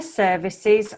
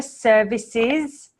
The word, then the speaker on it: services: eight zero requesting fire services on arrival requesting fire service on arrival okay this is a challenge I know for Spanish speakers is the final s here they're requesting fire services on arrival requesting fire